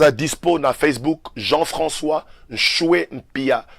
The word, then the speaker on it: Nshue: Pasteur Jean-François a dispo na Facebook Jean-François Nchoué Mpia. Nchoué s'écrit N-S-H-U-E Mpia, M-P-I-A.